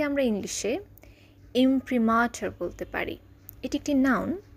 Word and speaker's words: imprimatur: মুদ্রণের দাপ্তরিক অনুমতি বা মুদ্রণাজ্ঞা কে আমরা ইংলিশে ইমপ্রিমাটার বলতে পারি এটি একটি নাউন স্পেলিং আই এম